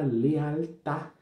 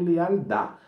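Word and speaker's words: lealtad: Outra palavra também aqui com a letra T no final é a palavra lealtá. Lealtá e não lealdá.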